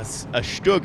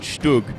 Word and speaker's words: StuG: They were giving me grief for mistakenly saying that the U sound in Stug should rhyme with book, which is, of course, it doesn't, because book is like and Stug is more like ooh.